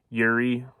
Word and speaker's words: Juraj: We'll see if Yuri Slafkovsky, I always thought it was Juraj. It's like Yuri or something similar to that.